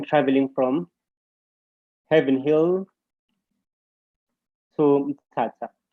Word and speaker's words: Mthatha: Okay, remember Mthatha, it's actually pronounced Mthatha, but it's written like this. But it is pronounced Mthatha. Right. So we're looking for same word without H's.